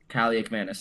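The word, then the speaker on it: Kaliakmanis: When you have a guy like uh Calak Manis, that's how you say his name, right? Cali McManus. Um Kali Mannis.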